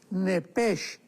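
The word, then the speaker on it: נפש: La Biblia le llama el alma, pero la palabra hebrea es muy importante porque es la palabra nepesh con sh al final.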